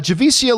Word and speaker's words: Javicia: struggled with her name it's pronounced uh javisa javisia is that a javisia is that you pronounce her name uh javicia leslie keep up the good work come forth